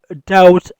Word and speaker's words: doubt: We have doubt on Umar. We have doubt on Umar. doubt ویل کیږي شک. په doubt کې بی نه تلفظ کیږي، بی سایلنٹ ده.